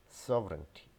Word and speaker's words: sovereignty: mispronounced as so vareniki this is not serenity this is sovereignty sovereignty sovereignty so you want more